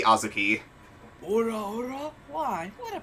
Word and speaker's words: Azuki: I do have to ask, are you deliberately pronouncing it wrong or no? I plead the fifth. Because it's supposed to be Azuki.